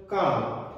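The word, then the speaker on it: calm: जब कभी भी एन, डी, के, एफ से पहले आने वाला एल हो तो वह हमेशा साइलेंट हो जाता है। फॉर एग्जाम्पल काम, सी ए एल एम, लेकिन हम यहाँ पर एल को नहीं पढ़ रहे हैं।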